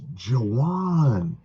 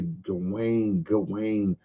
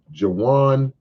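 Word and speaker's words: Jawain: Oh, it's Jawan. You know what throws me off? The W-A-I-N part. I always hear Gawain. I won't mispronounce it no more. Jawan.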